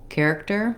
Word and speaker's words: character: my tight american r and the final syllable i just don't stress it because it's an unstressed syllable so character i want to try to stay light but still have that correct tension to get that er sound that's typical of american r so when i